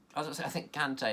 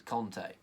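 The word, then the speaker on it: Kanté: I think Kante has said it's Conte, which doesn't really make sense, what I was about to say there.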